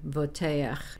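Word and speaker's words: בּוֹטֵחַ: Bezot ani voteach. Remember to pronounce the patach a before the chet.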